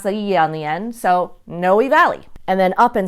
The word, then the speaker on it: Noe: but in fact it's pronounced no we you pronounce that yon the end so Noe Valley and then up in snowmen Napa if